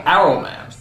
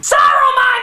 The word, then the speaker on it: Saruman: Saruman, you idiot! It's pronounced Saruman! The S isn't silent!